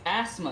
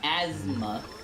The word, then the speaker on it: asthma: is l a z it's asthma not Asma you were saying asthma